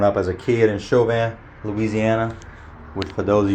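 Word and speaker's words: Chauvin: boats uh growing up as a kid in chauan Louisiana which for those of you that read it don't know how to pronounce it it's chauan that's sounds show van uh it's spelled c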